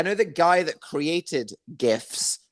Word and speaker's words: GIF: the guy that created gifs said they're pronounced gifs but it's the g stands for graphics it's not giraffix like a giraffe on the savannah jurassic park it's gif